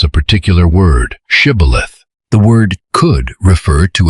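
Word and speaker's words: shibboleth: The Ephraites apparently pronounced the initial sound differently. They said something closer to cibilith.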